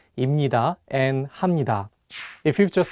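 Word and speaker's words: 입니다: pronunciation changes for example if you just read the hunger on their own you might want to say ibnida and hapnida but the correct pronunciations are actually imnida and hamnida the another constant sounds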